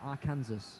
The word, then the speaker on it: Arkansas: It's written Arkansas. In no one's right mind should someone pronounce that Arkansas.